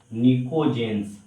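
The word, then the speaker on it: pnictogen: इसको नको जनस बोलते है नको जन प साइलेंट है निको जेंस निको जेंस कहते हैं य निको जनस क्या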